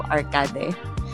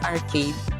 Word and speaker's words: Arcade: And I pronounced it like the English word arcade, like the ones with video games and flashing lights. My friend laughed and told me it's actually pronounced Arcade in Spanish.